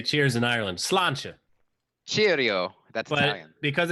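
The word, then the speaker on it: Sláinte: Patrick's Day right now yeah home and drink Sloan Cheers that's how you say cheers in Ireland Slainte cheerio that's because it's Irish it's spelled like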